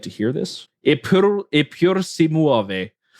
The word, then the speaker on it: Eppur si muove: Eppur si muove is apparently how it's pronounced.